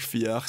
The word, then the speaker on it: Fiadh: Alors, pour info, ça s'écrit Bergfried, et c'est sorti chez Fiar, mais c'est du gaélique Fiar, ça s'écrit Fiadh.